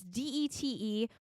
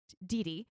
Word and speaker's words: Dete: Alps by her aunt, variously pronounced this woman's first name. It's Dete. We're going to call her Didi. It's pronounced many different ways in all the versions that we watched.